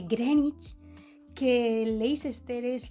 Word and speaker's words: Greenwich: se dice am que el meridiano de grenwich se dice greg knicks el leicester es lester